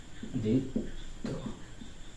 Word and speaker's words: দ্বিত্ব: যেমন দ্বিত্ব শব্দটায় যদি আমরা দেখি যে দ্বিত্ব, তাহলে এটার উচ্চারণ কেমন হবে? এটার উচ্চারণ হবে দ্বিত্ব।